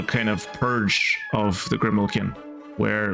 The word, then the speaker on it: Grimalkin: Remember, Grimalkin is the correct way to pronounce it.